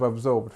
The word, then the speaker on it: absorbed: Let's just look at the pronunciation of absorbed first. So we have this ub, then we have the strength, or this zor, bd. Put bd, okay?